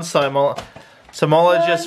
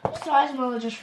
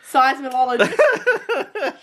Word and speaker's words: seismologist: Somologist report. Seismologist report. Oh, whatever. If you pronounce it correctly. What did I say? Seismologist.